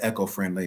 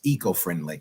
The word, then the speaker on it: eco-friendly: to have you um I said echo-friendly maybe it's the the proper pronunciation is eco-friendly e yeah you say tomato